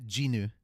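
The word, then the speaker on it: Jinwoo: your screen okay so the easiest way I've realized to pronounce it is to just take the W away ginu okay that's how you see it yeah we were wrong I'm so sorry all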